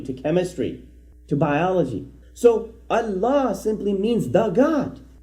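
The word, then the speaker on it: الله: But the correct pronunciation again is Allah, Allah.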